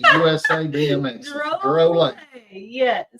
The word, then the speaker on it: Drolet: Rob Drolet, and I double checked. That is how we say his name. Yep. Drolet, USA BMX. Drolet.